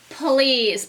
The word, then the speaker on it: please: Sounds like a Z, but they're trying to trick us because it's spelled with an S and a silent E at the end.